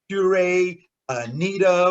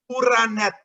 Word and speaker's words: Pura Neta: And I know that a lot of people may pronounce it like Pura Neta or Pura Neta, right? But it is Pura Neta, right?